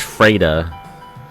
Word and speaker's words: Frida: That's pronounced Freda.